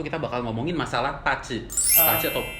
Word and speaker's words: BaZi: Pace atau bazi. Orang mungkin baca tulisannya bazi gitu ya. Iya. Tapi bacanya pace.